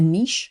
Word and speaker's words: niche: don't I need a niche or a niche I pronounce it Niche because it RS with Rich do you need a